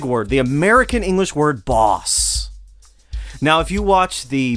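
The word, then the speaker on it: baas: it world's greatest boss boss is originally a dutch word roughly pronounced boss b-a-a-s something like that and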